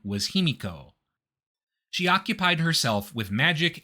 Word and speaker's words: Himiko: As a quick side note, the name of this queen is sometimes given as Pimiko, which is a variant reading of the characters used to write it. Himiko is the more common pronunciation, so I'm going to stick with that.